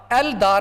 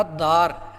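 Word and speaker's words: الدار: 'दाद' शब्द की शुरुआत में हम "अल-दार" नहीं कहते, बल्कि "अद्द-दार" कहते हैं, इसलिए 'दाद' भी हुरूफ़-ए-शम्सी में से एक बन गया।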